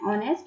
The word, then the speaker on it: honest: silent for example an honest man an honest man an honorable honorable person already captain other examples i'll come after nr and it's an honor so these are examples where h is silent then article a article